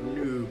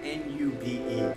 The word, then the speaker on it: noob: that much of a noob and Noob is spelled n o o b okay not nube you Noob so